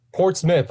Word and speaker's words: Portsmouth: Yao out of New Hampshire I think I'm pronouncing this right Portsmouth New Hampshire is that correct uh it's Port Smith I I I made that same mistake when